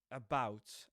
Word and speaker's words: about: I'm going to tell you about okay, about. I'm going to tell you about. Notice that at the beginning, the first syllable is a schwa actually, just like in comma, at the end of comma. So, about.